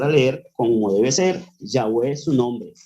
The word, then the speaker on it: Yahweh: Valera y otras han hecho una mala traducción de la pronunciación de la fonética del nombre del creador que originalmente es Yahweh y que ha sido tergiversado como Jehová además de otras versiones